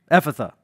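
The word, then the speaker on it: ephphatha: really honest with you ephitha ephitha that's how you say it epitha it's aramaic that is be opened i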